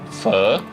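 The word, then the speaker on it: pho: dish which um is spelled p h o but they pronounce it fur okay so basically what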